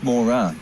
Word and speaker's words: Mora: But it's Mora. Yes, you see, Mora. I mispronounced it with an E. I thought I saw an E, and I thought it says Mo reacquiring, and I can't remember